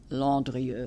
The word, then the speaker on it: Landrieu: Landrieu, they pronounce it Landrieu.